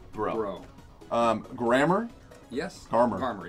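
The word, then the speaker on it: Breaux: So his last name is French, just to give you the background. It's how Bricks. Do you spell it? B-R-E-A-U-X. Yeah. Bro.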